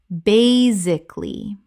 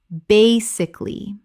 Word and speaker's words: basically: Common mispronunciation, basically. Correct pronunciation, basically. 3 syllables in natural speech.